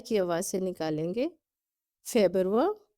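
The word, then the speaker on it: Februar: آواز سے نکالیں گے۔ فیبرور کی آواز حلق سے نکالیں گے۔ مرچ، اپریل، مئی، یونی،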